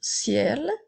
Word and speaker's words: ciel: nous avons le mot ciel si l a la lettre E on doit faire attention même s'il n'y a pas d'accent et elle se prononce comme un et pour faire ciel le ciel comme dans